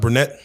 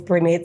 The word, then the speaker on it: Brednet: Is it pronounced Brednet? Yeah, Brednet Taylor.